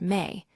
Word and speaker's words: me: That word, a Sumerian noun pronounced roughly like the English word me, has no clean equivalent.